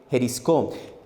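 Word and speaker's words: εὑρίσκω: 14 en el griego es la palabra jisc no se escribe Así se escribe h e u O eisco pero se lee jisc Qué significa hallar Qué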